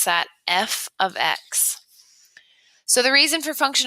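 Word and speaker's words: f(x): so function notation looks like this and we pronounce that f of X so the reason for function notation it helps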